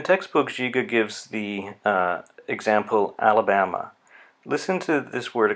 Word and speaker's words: Alabama: So Alabama. The last syllable again is a schwa. Alabama.